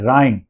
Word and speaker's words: rhyme: देखिए स्पेलिंग बहुत लंबी है, राइम, RHYME, और इसमें एक वोवल साउंड आया है, आई वोवल लेटर आया है, वो लास्ट में आया है, राइम, लेकिन प्रोनाउंसिएशन है राइम, र ई म, आई आई, राई, र आई म, र आई म, राइम।